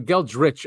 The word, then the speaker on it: Geldreich: It's Geldreich or Geldrich, actually. I've been saying it wrong, but we cover a lot of his research on the show.